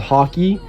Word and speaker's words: Haki: There's also a thing called hockey. It's spelled H A K I, not H O C K E Y.